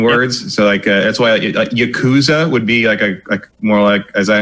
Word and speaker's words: Yakuza: And that's why you're generally going to hear it as Yakuza. Yeah. You barely even say the U.